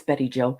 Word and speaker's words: Betty Jo: Bijou or Bijou or however Yep. you want to pronounce her name. It's Betty Jo.